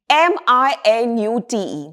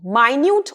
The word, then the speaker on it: minute: Now we move to the fourth pair, M-I-N-U-T-E, minute or minute. When it is pronounced as minute, it is a noun, which means 60 seconds, a unit of time.